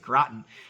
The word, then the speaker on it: Groton: Thank you, Amy, for telling me how to pronounce it. Groton, Connecticut, for a Long Island audit, which will be very interesting.